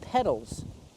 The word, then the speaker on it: petal: So, these flowers these things right here are called petals. The flower has petals. Pronunciation. Petal petal. The same as the bicycle pedal. These two words are pronounced exactly the same, but they're spelled differently.